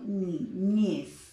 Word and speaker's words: niñez: En el caso de la palabra niñez, yo digo niñez. La última sílaba es aquella que se reconoce como sílaba tónica, ¿ok?